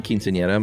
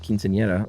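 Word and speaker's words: quinceañera: and your pronunciation of quinceanera was great as the era is a soft R sound um no need to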